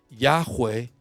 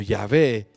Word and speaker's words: Yahweh: Yahweh o Yahvé es mucho más probable si nosotros nos vamos a ir a un estudio más exacto, ¿sí?